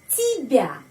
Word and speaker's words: тебя: Я спрашиваю, спрашиваю тебя. Di sini T, Y, B, ya. Tapi Y tidak dibaca Y, baca I. Karena tidak mendapat penekanan di sini.